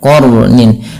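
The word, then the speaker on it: قَرْنٍ: Artinya kita membacanya dengan Jangan dibaca qar tapi dia qarnin nah sifat huruf ro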